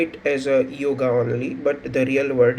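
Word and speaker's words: योग: and introduction of the yoga so actually the yoga the pronunciation yoga is a westernized uh form uh actually the word Sanskrit word which is a real word is yog so means the meaning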